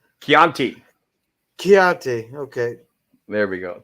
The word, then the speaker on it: Chianti: I understand women yeah pronounced a hard C Chianti chiate okay there we